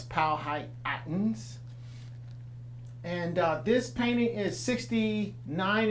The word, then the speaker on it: Powhatan: for the people that we call Powhatan Native Americans or properly pronounce Pao high patents and this painting is